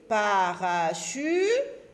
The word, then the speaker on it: parachute: On a ici le son ch, C-H se lit ch, avec U, chu, chu, parachute, et on a T-E-T, parachute.